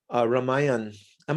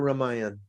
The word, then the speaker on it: Ramayana: I remember Brahmananda some years back, he presented or was selling Ramayan. Am I pronouncing it correctly? Is it Ramayan or Ramayan? I say It's Ramayana. Ramayana. Yeah. Ramayan, yeah.